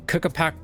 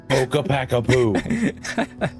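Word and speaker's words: Ccapac Apu: card before, Earthbound Immortal Kookapack. I messed it up. Kookapackapoo.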